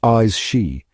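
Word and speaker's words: Aos Sí: In the heart of the Celtic otherworld, veiled from ordinary sight, dwell the AE seed, pronounced eyes she, a race of beings,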